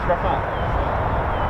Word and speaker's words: Rafale: Oh, no, it's Rafale.